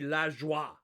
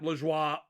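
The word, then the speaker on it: la joie: french it would be la joa yeah if you pronounce it in french it would be la joa just just just pointing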